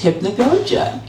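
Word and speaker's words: hypnagogia: uncore hypn Goa um this kind host that we have here actually taught me how to say the word correctly last week because I realized that I don't know how to say it I only I've only read it I've never actually said it before so it's hypnogogia but um interal uncore hypnogogia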